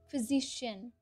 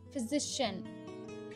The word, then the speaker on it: physician: not joe that's designer physician physician that's shunt that's not sheen that's shun physician next career title is